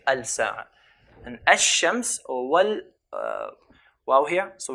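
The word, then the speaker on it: الشمس: And ash-shams or wal, wow here. So we have here the word al-shams, the sun. How would we pronounce it? Pronounce it as ash-shams.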